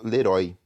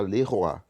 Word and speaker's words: Leroy: Então, Leroy se escreve com OY no final. Normalmente em português a gente falaria como isso? Leroy, certo? Mas aqui a gente fala Leroy.